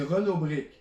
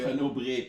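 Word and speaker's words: Renaud-Bray: en tant que tel, le prix du livre, c'est Renaud Brick. Là, c'est parce que. Renaud Bré, pas Ouais, excusez-moi mon langage. La prononciation.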